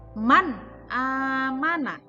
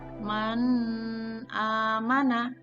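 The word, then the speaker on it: مَنْ آمَنَ: Setelah nun sukun itu ada alif, maka cara membacanya adalah man amana. Man amana. Tidak boleh dibaca man amana. Itu ada dengungan di situ, salah. Jadi cara membacanya adalah jelas. Nunnya dibaca dengan jelas. Apabila ada nun sukun atau tanwin bertemu dengan alif, maka nunnya jelas.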